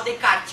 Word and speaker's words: Descartes: francês Renê decar né se escreve Descartes mas se fala só decarte o Né o o